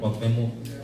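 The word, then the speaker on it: Cuauhtémoc: Cuauhtemoc.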